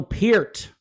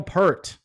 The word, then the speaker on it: Peart: His name is Neil Peart, not Neil Peart.